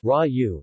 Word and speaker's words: Ragù: in Italian cuisine ragu pronounced ryu is a meat-based sauce that is commonly served